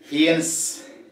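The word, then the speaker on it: fiancée: ഏതാണ്ട് the pronunciation is similar. ഒരേപോലുള്ള ഉച്ചാരണം ഫിയൻസെ എന്നാണ് ഉച്ചരിക്കുന്നത്. ഫിയൻസെ, ഫിയൻസെ, ഫിയൻസെ, ഫിയൻസെ. ചിലർ ഫിയാൻസ് ഫിയാൻസി എന്നൊക്കെ പറയും, ഫിയൻസേ ഫിയൻസേ എന്നാണ് ഉച്ചാരണം.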